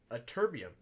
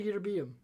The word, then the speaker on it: ytterbium: How about a terbium? You know how I say it. It's a terbium, right? It's how you say it? Which one? This one. No, I say ytterbium.